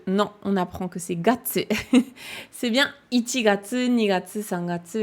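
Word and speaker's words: 月: Getsu, c'est la prononciation que tu retrouves, donc de ce kanji, dans getsuyobi, le lundi. Donc, c'est le même kanji de la lune. Il se prononce getsu quand c'est getsuyobi pour le lundi. Et c'est gatsu quand c'est les mois de l'année.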